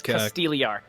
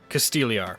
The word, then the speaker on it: Castigliar: So it is It's Castigliar. Castigliar. Okay. Yep. So Silent G.